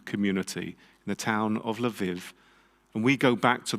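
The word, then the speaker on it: Lviv: murdered in yanovska prison in lav did i pronounce that right today we call it lev in ukraine and actually that city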